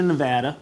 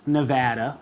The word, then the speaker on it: Nevada: because i go to nevada plenty of times it's pronounced nevada not nevada nevada so that way you can say it correctly now exactly nevada not